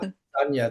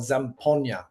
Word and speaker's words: Zampogna: It's like Zampogna. The G is silent. Zampogna.